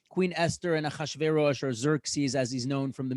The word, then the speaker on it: Xerxes: Esther and Achashverosh, or Xerxes, as he's known from the movie 300, or Xerxes, as it's probably more correctly pronounced.